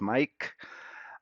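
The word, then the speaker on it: Maic: Yes, my name is spelled M-A-I-C and sounds as Mike.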